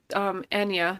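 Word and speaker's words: Anya: But Enya, that's how she pronounces her name, by the way.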